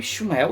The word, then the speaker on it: Shmuel: Sim, pronuncia-se Shmuel.